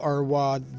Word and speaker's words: Arwad: And no, it's not Arad in Bahrain or Romania, where I have a couple of friends, by the way. This one is spelled with an W between R and A.